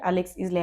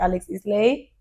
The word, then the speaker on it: Isley: I don't know if I pronounce her last name right, but Alex Isley, I discovered her, I think 3 years ago.